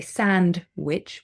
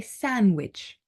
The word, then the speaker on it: sandwich: d in the middle we don't say sandwich we say sandwich and a very common